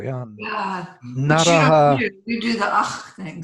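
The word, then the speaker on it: नरः: Naraha. You do the ach thing so that you don't have to add the syllable. Yeah, they don't do narach karoti. They would say naraha karoti, naraha.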